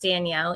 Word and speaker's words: Danielle: So it is pronounced Danielle, even though it's spelled funny.